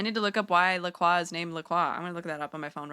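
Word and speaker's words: La Croix: The French Laqua means the cross pronounced Laqua and some English speakers use approximate approximation of this to refer to the brand brand.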